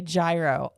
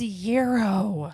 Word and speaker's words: gyro: was like 16, and people would come in and say gyro all the time. It drove her nuts. Don't spell it with a G. It's gyro.